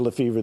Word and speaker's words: Lefebvre: Lefebvre, the B is silent, but I don't have to be.